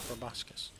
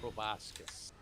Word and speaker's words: proboscis: But I'm pretty sure it's proboscis. I believe so. You're right. I've always heard it pronounced proboscis.